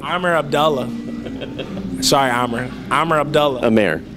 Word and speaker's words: Abdullah: Pronounced it wrong. Amer Abdullah. No, Abdullah. I've known him for a couple of years. It's Abdullah. I know Arabic. It's Abdullah. Well, he doesn't say Abdullah, so.